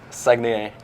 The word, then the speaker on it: Saguenay: Saguenay, yeah.